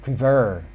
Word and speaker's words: prefer: prefer when you see the word prefer the stress is stressed at this second syllable so we add the